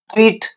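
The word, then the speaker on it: tear: ಟೇರ್ ಟೋರ್ torn ಹರಿಯುವುದು ಟೇರ್ ಅಂದ್ರೆ ಇದು ಟಿಯರ್ ಅಂತ ಉಚ್ಚಾರ ಮಾಡಿದರೆ ಕಣ್ಣೀರು ಆಗುತ್ತೆ ಅದು ಕಣ್ಣೀರು ಇಲ್ಲಿ ಟೇರ್ ಅಂತ ಅಂತ ಉಚ್ಚಾರ ಮಾಡಿದ್ರೆ ಅದು ಒಂದು ವರ್ಬ್ ಆಗುತ್ತೆ ಹರಿ ಪೇಪರ್ ಹರಿ ಲೈಕ್ ದಿಸ್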